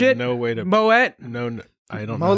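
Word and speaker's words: Moët: Anyways, it seems like it would be pronounced Moe because it's Moet, but I'm pretty sure it's pronounced Moet.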